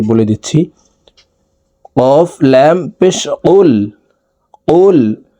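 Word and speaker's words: قُلْ: দিচ্ছি কফ লাম পেশ কুল কুল কফ হরফ জিহ্বার গোড়া তার বরাবর উপরের তালুর সঙ্গে লাগাইয়া উচ্চারণ করতে হবে তো এ কফ জজমওয়ালা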